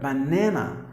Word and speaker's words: banana: So in that sense, you have to give the stress here. Banana, banana.